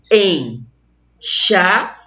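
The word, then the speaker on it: enxáguem: Esse M tem som de I, ó. Pronuncia bem devagarzinho aqui comigo, ó. Enxaguem.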